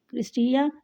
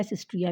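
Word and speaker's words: cristae: These infold are called क्रिस्टिया, इसको हम क्रिस्टिया या सिस्ट्रिया भी कह सकते हैं। इसकी दो प्रोनाउंसिएशन है, दोनों सही है जो आपको आसान लगे। एक इसको क्रिस्टिया भी कहा जाता है और सिस्ट्रिया भी कहा जाता है।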